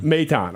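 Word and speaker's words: Maton: I mispronounced. Is it Matane? Matane.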